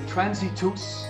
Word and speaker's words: Transitus: The pre-sales for Transitus, that's how it's pronounced, Transitus, start next week.